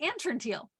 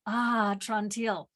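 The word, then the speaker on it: Atrantil: creator of Ah tronteel that's how he got me to pronounce it properly a lot of times I wanted to say and turn teal but it's ah trontel which is the only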